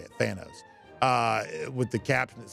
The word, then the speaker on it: Thanos: like the Marvel universe here, but is that Thanos? Is that who that is? Is that the guy's name? The villain there from that with the Thanos. Yeah, that's how you say it. Thanos.